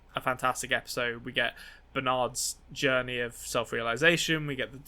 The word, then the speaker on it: Bernard: the arnold reveal we get confirmation that it's pronounced bernard it's just everything that we could possibly want